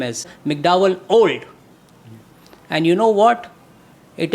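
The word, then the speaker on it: Olde: It is not old as you spell it. It is old as it was spelled in the Shakespeare era. O-L-D-E. E is apostrophe and E is silent.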